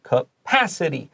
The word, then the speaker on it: capacity: said pa said drj capacity so you can underline PA and just so you know to stress the second syllable capacity although trains are still